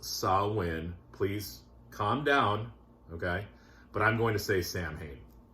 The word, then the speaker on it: Samhain: I know it's pronounced SAMHAIN.